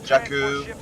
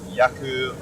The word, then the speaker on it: Jakku: I'm just going to post a fighting squadron game on Jakku, which I now know is pronounced as Jakku, with a hard J and not Yaku, like yogging.